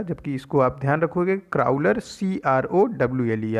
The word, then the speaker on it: Crowler: और इसका नाम है क्राउलर। क्राउलर, देखो ये क्रॉलर लिखा हुआ है, ऑप्शन सी करेक्ट हो जाएगा इसका, लेकिन आप स्पेलिंग इसकी समझ लो, CROWLER, क्राउलर।